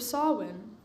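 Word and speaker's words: Samhain: year the Feast of sowin smiling she said the strange words so it seemed to rhyme with plowing while oh sorry all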